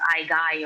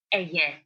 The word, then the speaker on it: Aegae: That is written Aigai. And people tend to pronounce it as Aigai or whatever, but it's Aegae.